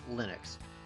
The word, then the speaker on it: Linux: And yes, the pronunciation is Linux. Things like Linux are just butchered versions.